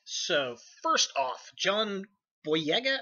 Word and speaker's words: John Boyega: So first off, John Boyega, I think that's how his name is pronounced.